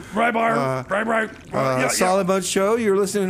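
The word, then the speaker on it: Rybyr: Right, well, I'm Rebar, R-Y-B-Y-R, that's how you spell it. I know people get it wrong all the time. Rybar, Solid Mud Show, you're listening to 96.9 FM, KMRD-LP, Madrid, New Mexico.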